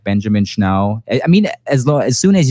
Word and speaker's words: Schnau: and my last name, Schnau. So I'm always saying, just think about the dog, just leave the Z-E-R out.